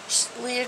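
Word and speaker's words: Lia: I laughed um princess I think it's pronounced Leah it's spelled l a and then Kaden is an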